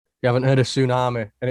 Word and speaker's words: Sunami: you haven't heard a tsunami and it's not spelled the way you actually would normally spell tsunami it's spelt s-u-n a-m-i right scott you haven't got the t and got the t